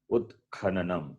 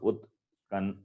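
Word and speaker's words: उत्खननम्: Utkhananam. It's not Utkan. Nowhere it is Nakara. Nanam. It is Nanam. A is there. So Utkhananam only. So you cannot cut the vowel in between.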